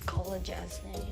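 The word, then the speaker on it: Kolodjashnij: Collar. That's how we remember it. Collar. Yeah, jazz is in jazz. Yeah, knee. Yeah. That's good. Kolodashny.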